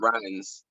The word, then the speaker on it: Ryines: Ryines. Right. Say it again. Ryines. Ryines, Ryines, just like it sounds, but with a Y.